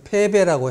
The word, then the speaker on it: 패배: 이 북자에는 북녘 북자와 달아날 배가 있습니다. 그런데 여기서 패자하고 북자하고 썼을 때는 패해가지고 달아났다는 뜻이기 때문에 반드시 배라고 읽어야지 됩니다. 그래서 패배라고 해야지 패북이라고 하면 틀립니다. 사나울포, 쥐엘포, 이것도 횡포라고 그래야지 횡포라고 하면 안 되죠.